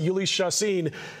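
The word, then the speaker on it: Jhoulys Chacín: It'll be Ulys Chacin, and yes, you pronounce it Ulys Chacin, who's going to be taking the mound for the Rockies.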